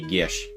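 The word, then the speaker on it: geas: incorrect to pronounce it if you were to pronounce it properly it's supposed to be Gish Gish yeah it makes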